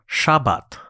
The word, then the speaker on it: Shabbat: sound familiar to you, Shabbat. Oh, Yeah. Shabbat. Shabbat. Is that a religious thing? Well, that's the Sabbath, I guess, which I think in Hebrew they would pronounce it like Shabbat. Right.